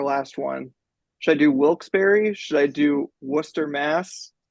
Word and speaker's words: Wilkes-Barre: This is confirm Wilkes-Barre. That is actually shockingly close. Wilkes-Barre. Wow. Yeah. Despite the fact that it looks like Wilkes Bar, you have to get the point for that because that is stunningly absolutely.